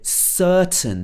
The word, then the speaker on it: certain: this has to stop she uses a very british sound here certain this er sound very particular to uh the southern british accent certain so if